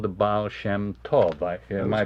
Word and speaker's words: Baal Shem Tov: And he was called the Baal Shem Tov. Am I pronouncing that right. correctly? Baal Shem Tov, yes.